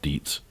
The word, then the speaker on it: Dietz: Park Dietz, who I've been pronouncing Detz, but been corrected that he calls himself Dietz.